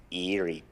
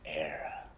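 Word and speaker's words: Éire: The land to your fathers isn't eerie boy, it's era.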